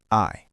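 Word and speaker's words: aisle: Isle, pronounced I, the path between shelves in a store.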